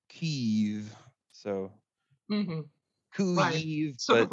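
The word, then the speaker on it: Kyiv: and it's actually not kiev either it's uh there's sort of a u that that kind of a u sound that kind of merges in with the e so it's it kind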